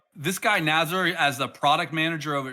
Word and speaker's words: Nazar: It's actually Nazar. So, but Nazar is also okay. So I'm okay with that since when we are working with some American friends, American partners, they have different pronunciation problems.